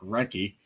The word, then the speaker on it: Recchi: Yes, apparently so forgotten that his name is actually Mark Recchi. I thought you pronounced the H. I No. always pronounce the H.